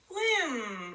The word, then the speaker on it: limb: the style letter is it's the limb I'm gonna circle the B that is our silent letter limb we hear limb we say limb we don't you doesn't work you know we don't hear the be it just limb good what about the